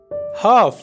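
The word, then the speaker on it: half: हाफ यानी आधा, यहाँ पर एल जो है ये साइलेंट है।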